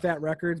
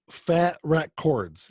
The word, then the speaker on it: Fat Wreck Chords: for sucking it up I was like that records but you just said it wrong no it's actually Fat Wreck chords yes that's Fat Mike